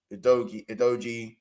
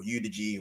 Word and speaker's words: Udogie: If you look at the difference in their defense now, and obviously Van der Ven, Romero, Udogie, or Udigi, whatever you want to call him.